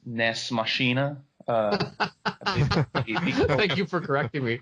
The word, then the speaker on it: Nex Machina: Well, first of all, Paul, I think that it's pronounced Nex Machina.